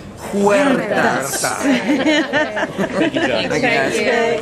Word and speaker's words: Huertas: Huertas. Everybody together and roll your R's. Huertas.